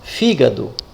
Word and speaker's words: fígado: Olha lá, fígado. Fígado. Qual é a sílaba tônica? A sílaba forte é a que tem um acento, é a fi.